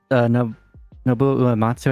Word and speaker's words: Nobuo Uematsu: Oh yeah, for Nobuo Uematsu, I think his name is pronounced.